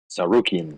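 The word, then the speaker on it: Tsarukyan: fight night camera versus armin you want to pronounce his last name saruki there you go uh yeah gamrat winning decision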